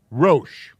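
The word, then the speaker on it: ראש: This is a syllable, row. This is just a space holder. And it's grammar rules force it to be there. And then this is the sh. So the word is Rosh.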